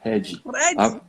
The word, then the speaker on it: Redi: Mas a sílaba forte é a primeira, ela disse.